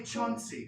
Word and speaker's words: Chauncey: That's why they call me Chauncey, because it rhymes with Flauncy.